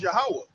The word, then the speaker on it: Yahweh: now, when you said it in the Paleo Hebrew, like how is it supposed to be pronunciated? It's Yahweh. Yahweh.